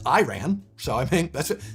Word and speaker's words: Iran: Do you know Iran is pronounced wrong by mostly everyone, except Iranians. The I is supposed to be pronounced like Italy.